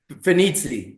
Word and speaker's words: Fanizzi: Pheniti. It is. Phenitzi. Okay. Okay. Properly pronounced pheni.